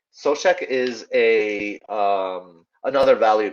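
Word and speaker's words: Souček: de bruyne is um i think suck is or uh i think it's pronounced sosek sochek is a um another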